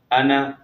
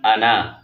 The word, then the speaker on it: انا: ا، نون زبر نا، انا وقفاً انا۔ اب غور کریں گے، وصلاً الف نہیں پڑھا گیا ہے، وقفاً الف پڑھا گیا